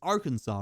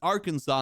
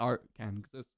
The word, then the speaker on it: Arkansas: Like this is our Kansas and this is Kansas. This is Arkansas and this is Kansas, but this isn't pronounced our Kansas.